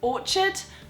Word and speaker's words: orchard: as well um this by the way is pronounced Orchard so an orchard is like an is it